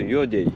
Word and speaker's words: Ёдэй: Поселок по-русски говорится Едей. Да, а по-якутски пишется Йодей.